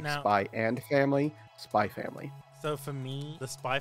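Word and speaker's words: SPY×FAMILY: But like the X in this regards, when it comes to a Japanese title, it represents like an ampersand that you don't pronounce.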